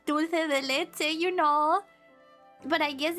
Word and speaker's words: dulce de leche: Dulce de leche is a name in English too. It's de. Dulce de leche. It's so weird to me to pronounce the the as se.